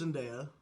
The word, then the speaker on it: Zendaya: How does Zendaya? I'm ripping through these. Yeah, I know.